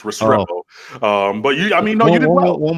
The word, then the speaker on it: Restrepo: 2020 wide receiver Xavier Restrepo who has committed to Miami and your thoughts about that commitment very nice that was the wrong emphasis in Spanish it's restorable but yeah I mean